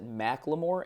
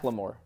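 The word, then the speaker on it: Macklemore: the first episode one schy pronounced it memore and I called him out and then someone my my friend MO akan sent me I was wrong it's mamore it's Mac limore well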